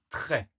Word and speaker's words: très: Il y a le R, il y a le E et on ne prononce pas le S. Il n'est pas prononcé.